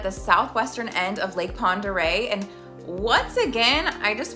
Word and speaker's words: Pend Oreille: North Idaho is hard does does this word look like how it should sound no it doesn't other examp Les cutney